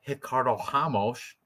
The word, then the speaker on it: Ricardo Ramos: Next, we have a featherweight fight between Ricardo Ramos or Ricardo Ramos, depending on if you want to say the R's or pronounce them in Portuguese.